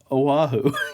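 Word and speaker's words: O'ahu: the first grade yeah i just you know oahu yeah oahu leeward coast yeah north of uh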